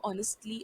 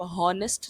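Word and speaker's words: honest: Word की तरह ही यहाँ पे आप एच को प्रोनाउंस नहीं करेंगे, एच को बोला नहीं जा रहा है। आप हॉनेस्ट नहीं बोलेंगे, आप ऑनेस्ट बोलेंगे।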